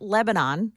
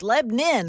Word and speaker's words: Lebanon: So it's not Lebanon, which is there's a Lebanon in Pennsylvania. That we say Lebanon, Pennsylvania. You come down here and it's like, no, it's Lebanon. Lebanon.